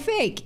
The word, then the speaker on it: PHEIC: I'm going to call it fake. It's a fake, okay? Because that's how I'm pronouncing that word.